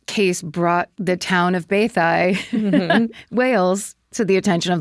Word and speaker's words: Beddau: I would pronounce it Bedow, because that's Beddau. Mm-hmm. And it says in parentheses, pronounced Bathai.